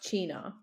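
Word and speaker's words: Cynar: But it's pronounced china.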